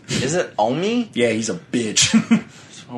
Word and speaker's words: OMI: How do you pronounce his name? Omi. Is it Omi?